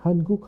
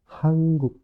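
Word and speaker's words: 한국: contoh hanguk Korea ni kita sudah sering ya hanguk hanguk padahal cara membacanya adalah hangguk dia jadi Eng cingu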